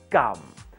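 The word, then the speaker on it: กำ: Now let's put it together with Go gum. The same way we would pronounce chewing gum, gum.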